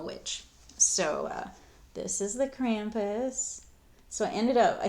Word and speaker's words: Krampus: Love how Americans say Krampus. It's Krampus.